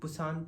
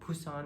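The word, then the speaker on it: Busan: For example, अगर हम बुसान लिख रहे हैं, इंग्लिश में हम बुसान प्रोनाउंस करते हैं, बट एक्चुअली नेटिव स्पीकर को अगर हम पूछें तो वो लोग फुसान प्रोनाउंस करते हैं।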